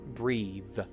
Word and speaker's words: breathe: Breath without the final e will be short e and the breath. Breathe.